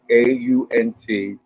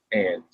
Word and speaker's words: aunt: on me for this afterwards that the word au n t is not pronounced ant it's aunt stand up in class in junior high and go all AU N T.